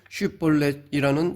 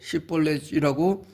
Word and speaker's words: 쉿볼렛: 그런데 그 과정에서 동족이다 보니 누가 어느 지파 사람인지 가리기 힘들기 때문에 에브라임 사람들이 발음하지 못하는 쉿볼렛이라는 단어로 에브라임 사람을 가려냈습니다.